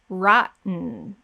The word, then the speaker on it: rotten: my voice rotten rotten i'm going to slow it down so you can see that there's no vowel um so my tongue is up on the roof of the mouth i'm not saying with a vowel there's no vowel we go straight into the n another example is the